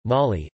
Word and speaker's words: Mali: Mali, listen, French pronunciation, Mali, officially the Republic of Mali, French, République du